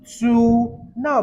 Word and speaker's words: ene: Hept, the double bond occurs in carbon 2. So it becomes 2. Now, please take note. For this case, you don't say 2 in. You say 2N. So the second E is silent.